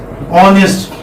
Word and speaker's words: honest: Honest, for example. Now here H is silent.